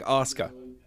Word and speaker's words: Asuka: about pronunciation and like Asuka. Realizing that I read it this. like the U is nearly silent. Yeah. It's, yeah. Okay. Yeah. Asuka. Azkua?